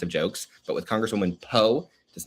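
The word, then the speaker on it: Pou: And then you've got Congresswoman Nellie Poe, P-O-U. It is not Nellie Poo.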